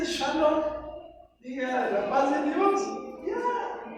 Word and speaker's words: shalom: me hace absurdo eso no le dicen ni yeshua le dicen yesua chalón Entonces si no sabemos dijera alguien pronunciar para qué le hacemos el cuento no puede decir shalom diga rapaz de Dios